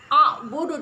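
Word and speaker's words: أعبد: Anak-anak, a'budu di sini harus bacanya memantul. Mengapa harus dibaca memantul? Karena ini adalah qalqalah kubra, yaitu qalqalah yang berat.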